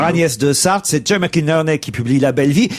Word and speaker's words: McInerney: Mais c'est aussi un livre publié aux éditions de l'Olivier, signé Jay McInerney. J'espère que je prononce bien. Il faut dire Inorney, il paraît.